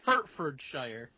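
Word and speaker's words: Hertfordshire: it correct you know what I mean that's herfordshire I'm H agree that's how I would say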